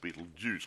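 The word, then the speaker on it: Betelgeuse: name from yeah but it's pronounced Beetlejuice but it's not spelled that way yeah anyway maybe yes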